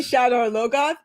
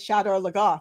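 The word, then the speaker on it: Shadar Logoth: said that so forcefully I say shadow or low goth but the show says Shadow La goth so it's okay make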